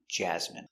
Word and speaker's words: jasmine: So, remember these special words ending with i n e. We pronounce them all the same.